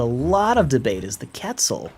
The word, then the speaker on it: Quetzal: And it's actually accepted by the scientific community that the British pronunciation is Quetzal, and the American pronunciation is Quetzal. And that's actually legit. So those are both completely right.